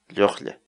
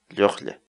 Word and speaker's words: lluqlla: de videos en la que te enseñamos a pronunciar algunas palabras en quechua. Así que nuestra palabra del día por hoy es... Llojle. Llojle. Llojle.